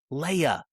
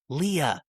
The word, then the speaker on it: Leah: Okay, the name is not Leia. It is Leah.